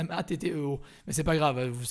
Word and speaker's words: Matteo: Salut Mathéo. Il y a quelqu'un qui t'a dit salut Mathéo. Oula, vous l'avez détruit son nom. Alors son nom s'écrit Matteo. C'est à l'italienne, c'est Matteo.